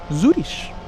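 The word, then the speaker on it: Zürich: Zish I can't say I can't say it like Angela Zurish hits different when I say it. I should just stick to Zurich like an American.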